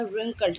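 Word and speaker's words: wrinkled: W यहाँ पे silent है, ये नहीं बोला जाएगा, रिंकल्ड बोला जाएगा।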